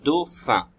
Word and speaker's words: dauphin: Alors ici, vous avez un dauphin. Donc il faut d'abord la syllabe do, et après la syllabe fin qui s'écrit, le feu de fin, c'est PH. Donc PH dans la deuxième syllabe.